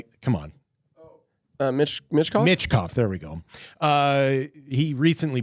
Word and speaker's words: Michkov: And he recently benched, and I can never pronounce the Russian kid's name, come on. Michkov? Michkov, there we go.